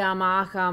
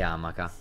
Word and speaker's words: amaca: amare come si dice si direbbe amaca ma comunque la ritrazione dell'accento è talmente tanto comune in italia nella ma alla fine ha accettato anche amaca ok ok che cosa